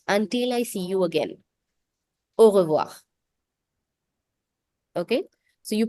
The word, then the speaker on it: au revoir: Either you pronounce it distinctively by saying au revoir, or many natives just combine it and say it in one go, and you hear it as au revoir.